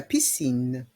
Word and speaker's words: piscine: barbecue le barbecue la piscine la piscine dans le mot piscine le C se prononce ce la piscine la piscine